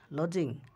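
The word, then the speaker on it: lodging: লজিং, লজিং, লজিং লজিং মানে বাসাবাড়ি। টির উচ্চারণ এখানে হবে না, লজিং।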